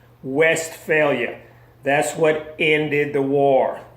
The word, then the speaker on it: Westphalia: the peace of westphalia that is spelled w/e st west ph al I a West failure that's what ended the